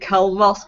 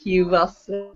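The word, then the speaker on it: Culross: l r o so we were calling it K Ross but apparently it's Q Ross yeah we're gonna beting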